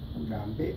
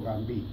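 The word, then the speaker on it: Gambee: se cierran con puntos que se llama gambé o gambí, le pronuncian gambé o gambí.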